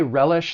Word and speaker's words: relish: When it comes to pronouncing the verb, it has 2 syllables. The stress is on that first syllable, relish.